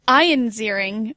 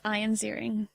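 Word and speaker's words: Ian Ziering: in this no but I was going to correct your pronunciation again because oh yeah come on ION zering was best known for Beverly Hills 90210 and everybody knows that his name was iron zering see I didn't everybody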